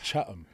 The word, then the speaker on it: Chatham: And it's Chatham. Chatham. What are you saying? Chatham. Bro. There's no E. Chat-ham. There you go, bro.